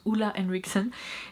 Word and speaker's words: Ole Henriksen: C'est donc un produit Ole Henriksen ou Ole Henriksen, je suis presque sûre que ça se prononce Ole Henriksen.